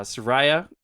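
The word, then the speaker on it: Saria: couple of which uh soraya or i think that's that's all i've always said i've always said sorry sorry is probably more correct i don't know soraya sounds more interesting i would say soraya's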